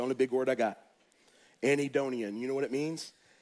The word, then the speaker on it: anhedonia: day it's the only big word I got anid donian you know what it means it means you